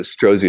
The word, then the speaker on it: Strozzi: It's called, they pronounce it Strozzi Institute. Strozzi.